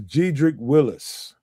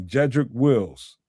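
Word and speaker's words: Jedrick Wills: This is Gedric Willis. Wills, excuse me, Jedric Wills is that that's the proper name way to say his name.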